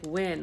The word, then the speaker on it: Nguyen: And hear the name like Win, like NJUYEN, Win. I know it's not pronounced the same way it's spelled, but it's NGUYEN.